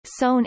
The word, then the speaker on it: seon: Zen Buddhism, Chan pronounced Chan in Chinese, Son in Korean or Zen in Japanese, derived from